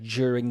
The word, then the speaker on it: during: of this word is when we have a u right d u on the british side of the atlantic it's pronounced like a j like my name is so it's like g d u is pronounced like a j like during the week jew um i can't think